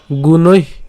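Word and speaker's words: গুণৈঃ: প্রকৃতে ক্রিয়মানানি গুণৈ, গুণৈ, এখন প্রশ্ন করতে পারেন যে গুণৈ কেন উচ্চারণ করলাম। একে এখানে ঐকার আছে এবং তার সাথে হচ্ছে আবার বিসর্গ আছে, তো গুণৈ অর্থাৎ দীর্ঘই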